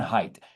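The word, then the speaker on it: Haidt: John hate who John hate I always say his name wrong. John Height John height.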